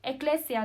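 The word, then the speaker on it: ἐκκλησία: Eclesia, ¿no?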